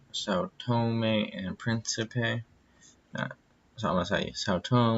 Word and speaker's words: São Tomé and Príncipe: in Thomas a sad tone Restless presentation it's pronounced são tomé and príncipe yeah Thomas I saw tone when I say